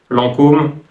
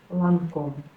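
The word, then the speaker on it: Lancôme: c'est intéressant parce que certaines marques françaises sont prononcé vraiment différemment et d'autres ne le sont pas par exemple Chanel Chanel quartier quartier lancum Lancom Dior Dior L'Oréal L'Oréal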